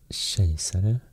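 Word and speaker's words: kejsare: empire in swedish it's shay salah and um it's spelled with a k so so it's a bit different uh pronunciation of chaser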